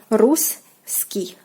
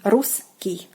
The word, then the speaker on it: русский: the language is called русский. Русский язык. Русский. When we are pronouncing it quicker, the double S like blends into one. Русский.